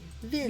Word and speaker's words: він: Vin.